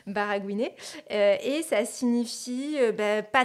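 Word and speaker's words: baragouiner: mot donc ce mot c'est baraguin baraguin ça s'écrit B a R a g o u i n e r barragouiné et ça signifie ben pas très bien parler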